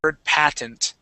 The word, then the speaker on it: patent: We do that with the with this word patent. So instead of pronouncing that that T in the middle, we jump right over it and we say patent.